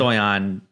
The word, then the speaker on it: Stojan: is Stoyan. J pronounced like a Y.